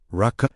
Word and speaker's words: Raca: The word Raca, pronounced Raca, meaning empty one or worthless one, appears in Matthew chapter 5, verse 22.